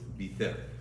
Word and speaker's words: Beitar: By the way, I just want to tell you, the Sephardic way of pronouncing Beitar is Biter. It's in all the classic sources.